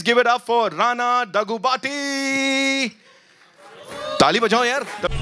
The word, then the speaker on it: Daggubati: Ladies and gentlemen, please give it up for Rana Daggubati. ताली बजाओ यार. Pronounced it correctly or not? Finally, after 13 years, they got my name right. It's Daggubati. Well done, sir.